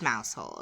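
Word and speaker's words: Mousehole: to go see mouse hole and it is mous hole okay I do not even care uh the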